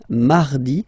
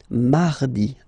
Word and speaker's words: mardi: So you can hear that you don't pronounce it that strongly, this R. Mardi, mardi, okay? You don't need to go too deep like mardi. No, no, no. You don't move your tongue, so it doesn't sound like mardi.